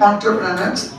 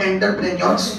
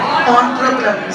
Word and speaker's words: entrepreneurs: Yes, this is the correct pronunciation, entrepreneurs, not entrepreneurs. Okay, the correct pronunciation is entrepreneurs.